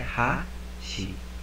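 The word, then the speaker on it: はし: Então aqui é ha-shi, né? Você pronuncia o shi com menos força.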